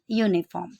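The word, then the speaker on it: uniform: पर यहाँ पर जब हम उसको प्रोनाउंस करेंगे तो य का साउंड आ रहा है, ठीक है।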